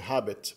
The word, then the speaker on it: habet: Habet é o verbo ter no presente, habet. No latim clássico, provavelmente na época de Júlio César, ainda se pronunciava o H como uma aspirada mesmo, habet.